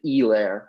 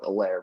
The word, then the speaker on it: Helaire: Yeah, Steve Levy likes to go with the Elaire, but I'm going to just go with Alaire because that's what a normal person does.